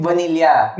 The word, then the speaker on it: vanilla: Ay, hindi, yung vanilla. Vanilla na. So, mali ang Americans. Oo, mali sila. It should be, kasi double L eh. Phonetically Vanilla.